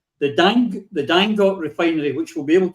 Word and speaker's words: Dangote: It's true that Dangote, the pronunciation of the name is Dangote, because the guy who is named after, or whose name is linked to the refinery, is from Kano State.